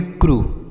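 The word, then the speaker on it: crew: सी आर यू ई इसे पढ़ेंगे क्रू, समझ आया बच्चों।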